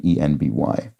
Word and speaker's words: enby: right, and then similarly NB for non-binary can be pronounced and written ENBY.